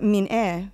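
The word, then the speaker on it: 민예: The first is, why does the term minhwa persist and is still commonly used for paintings, but min-e, which is the Korean pronunciation for minge, is not used for ceramics or decorative arts?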